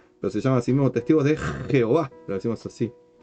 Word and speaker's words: Jehová: Entonces leían Jehová y escribían Jehová con J porque sonaba como I.